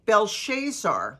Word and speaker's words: Belshazzar: King Belshazzar, not Belteshazzar, Belshazzar, gave a great banquet for 1,000 of his nobles and drank wine with them. While Belshazzar was drinking his wine,